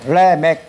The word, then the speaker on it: 라멕: 자 라은 무 뜻이냐면 한글로는 라멕이 아고 읽습니다 그런데 읽을 때는 레메 그라고 했 이것은 뭐냐면 강한 자라는